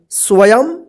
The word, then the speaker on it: स्वयं: है अशोक स्वयं से देखिए य आधा व य केऊ परर जो बिंदी है ना तो इसका उच्चारण आधा म के रूप में होगा स्वयं से आज चार वर्ष